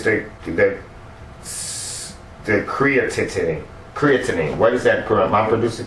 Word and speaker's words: creatinine: I'm going to be with you, and it's the creatinine. What is that? Mom producing what? How do you pronounce that?